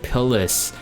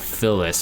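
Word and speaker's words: Pyllis: Shadow Knight Pillis. This is okay. There's one thing, it's either Pillis or Pillis. It's not Phyllis. Okay, there's no P there.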